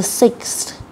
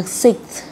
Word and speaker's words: sixth: Sáu này, the sixth, the sixth, the sixth, the sixth. Đấy, có cái sờ thở, the sixth.